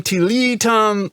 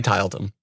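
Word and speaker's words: Tiletum: yeah tillotum Tyler Tom tillitum we've had a lot of people give us different pronunciations I say title them so whatever I decided to let them so it is what it is yeah so this is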